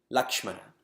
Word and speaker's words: Lakshmana: And people spell it with L-A-X. M-A-N. There's no X in any Indian language. Not Avadi, not Sanskrit. So then we spell L-A-K-S-H-M-A-N. Lakshmana.